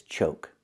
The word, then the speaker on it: choke: And this is choke with a long O sound like coke.